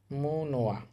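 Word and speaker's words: 문화: নিউন বাসিমের পর হিউত থাকলে নিউনটা কিন্তু হিউতের স্থানে গিয়ে উচ্চারিত হয়। তাহলে শব্দটার উচ্চারণ হবে মুনোয়া। মুনোয়া অর্থ হচ্ছে সংস্কৃতি।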